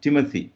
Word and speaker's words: Timothy: ടി എച്ച് ഒ എം THIMOTHY, Timothy, തീമത്തി എന്ന് ആണ് നമ്മൾ എഴുതുന്നതെങ്കിലും ടിമത്തി എന്നാണ് ഉച്ചാരണം. ടിമത്തി, അത് അതിൽ ആദ്യത്തെ ട്, രണ്ടാമത്തത് ത് ആണ്. ടിമത്തി, അതുപോലെ തോമസ്, ടൈം, അതുപോലെ